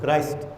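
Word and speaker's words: Christ: After the death of کرائسٹ، اچھا کرسٹ بھی کہتے ہیں، کرسٹ سے پھر آگے کرسچن ہے، لیکن اس کا صحیح تلفظ جو ہے وہ میں بول رہا ہوں کرائسٹ.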